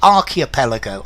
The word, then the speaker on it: archipelago: well worth yes Alex is it acceptable to pronounce the CH in archipelago change archipelago archipelago I would probably say archipelago I would probably give it a k White Stripes known for